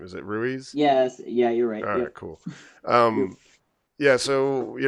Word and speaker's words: Ruiz: you to say your last name is it Ruiz yes yeah yeah so you know we all